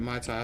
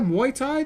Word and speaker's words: Muay Thai: Yeah, I keep calling it Mai Tai. I suppose it's the actual. What's it called? Is it there's Tai Chi? Is there Muay Thai though? That's the martial art, right? I'm just pronouncing it wrong. I'm pronouncing it like the beverage.